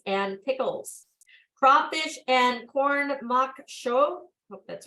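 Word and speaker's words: maque choux: pickles crawfish and corn mock show hope that's right made from freshly shut corn crawfish veggies herbs and spices this Big Easy favorite crawfish corn mock choke pronounced shoe of makshu there best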